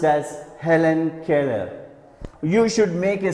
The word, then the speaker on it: Helen Keller: E ll we are though we write a letter twice we read it only once you shouldn't read it as Helen Keller no that's wrong then